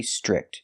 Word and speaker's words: strict: The TR makes a ch chicken sound. Strict. Make the short I sound like this is. I.